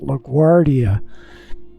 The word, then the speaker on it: LaGuardia: Somebody corrected me and said you pronounce it LaGuardia. Anyway, that has a W sound in there. That G-U-A-R-D is Guardia.